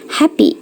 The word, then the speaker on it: happy: Sekarang yang terakhir, sebagai vokal E panjang, dia dibacanya I. Jadi ini terjadi pada kata dengan 2 suku kata. Kalian pernah dengar dong, ini dibacanya happy, bukan happy.